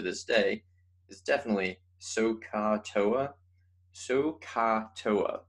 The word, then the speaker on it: SOHCAHTOA: day is definitely sohcahtoa sohcahtoa right so you have to like really enunciate that the so and the car wise it appears to